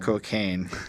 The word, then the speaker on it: Kokane: And then there's a guy whose name is Kokane, spelt with K's so that he gets around censors. But it's just Kokane.